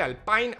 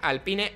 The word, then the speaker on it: Alpine: Alpine, Alpine, Alpine, Alpine, según ellos. Han hecho un vídeo hablando de la pronunciación.